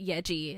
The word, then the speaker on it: Yaeji: My song of the week is Waking Up Down by Yeji. It is spelled Yaeji.